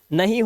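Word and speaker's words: know: आगे देखिए, अब देखो आई और जे, कौन कौन से लेटर दिखाई दे रहे हैं, आई और जे, ये कभी भी साइलेंट नहीं होते।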